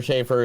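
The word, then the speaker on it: Schafer: And Hunter, oh man, I don't know how to pronounce her last name correctly. Yeah. Schaefer Brown? Hunter Schaefer? Is it Schaefer? Yeah, Schaefer.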